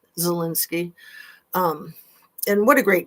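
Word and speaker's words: Zelensky: It's been so long and it's like it sounds like it's Zo or ZA, but it's Ze Zalinski.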